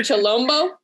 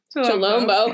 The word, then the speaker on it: Chilombo: Is it Chilombo? Yeah. Chilombo.